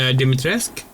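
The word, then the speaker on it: Dimitrescu: Oh, uh uh uh Lady Deitresque. That's how it's pronounced.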